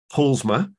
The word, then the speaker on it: Paulusma: with apolly and I've just checked how to pronounce her surname and it's paulsma so you you basically uh leave out the second you so if any of